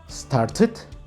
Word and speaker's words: started: En este caso, para pronunciarlos en forma pasada, en tiempo pasado, vamos a agregar en sonido la terminación ID. Started, ended.